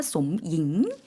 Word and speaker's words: สมหญิง: ท่านชื่อสมหญิงครับ 네, 마찬가지로 성조가 들어가 있기 때문에 한국 분들이 무슨 이름이지 하셨을 것 같은데요. 사성으로 이야기했고요. 솜잉입니다. 그래서 사성이니까 솜잉 이렇게 발음을 해주셨고요.